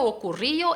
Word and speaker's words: ocurrió: Ocurrió, no es ocurrió, ocurrió, es ocurrió. La sílaba fuerte ahí es la O final, entonces ocurrió, ¿vale?